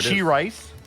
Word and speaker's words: Sharice: Uh it's pronounced She-rice.